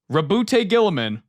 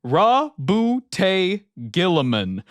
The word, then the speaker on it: Roboute Guilliman: At the back here, it has a pronunciation guide, and the first one, ROBOUTE GUILLIMAN. ROBOUTE GUILLIMAN. Not GUILLIMAN, not ROBOUTE, not any of that. ROBOUTE GUILLIMAN.